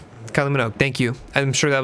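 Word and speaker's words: Kylie Minogue: I I always forget how to pronounce her name. It's just Manugg. Kylie Manugg. Kylie Manog.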